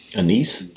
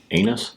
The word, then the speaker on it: anise: Anise. That sounds better. And then... Anise? Definitely not that. Anise. No. Anise. Anise is I put the emphasis on the wrong syllable.